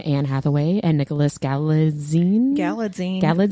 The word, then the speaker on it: Galitzine: Galitzine. It's like a magazine. That's how Anne Hathaway pronounced. She said, "Oh, you think magazine? It's Galitzine."